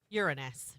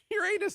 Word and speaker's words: Uranus: Uranus A is a planet. No, So it's pronounced Uranus if you ask scientists. Uranus.